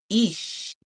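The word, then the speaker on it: Ix: Ish, Eeks, um, Ish, Eesh is what that's pronounced as the wizard, aka Jaguar, all right, bringing us timeless wizardry.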